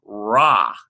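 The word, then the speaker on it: רע: the translation it uses an IE and it's pronounced rah-rah we have a rash and a atop and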